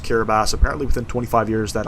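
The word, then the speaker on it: Kiribati: or I think it's spelled kabati but it's pronounced kabas apparently within 25 years that Island's supposed to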